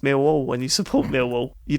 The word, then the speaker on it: Millwall: Because you don't pronounce half the letters, Dave. Yeah, but that's, that's me, isn't it? That's salt of the earth. It's pronounced Millwall when you support Millwall.